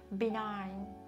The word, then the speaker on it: benign: ども、あと Gentle とか Benign、 G 発音しないです。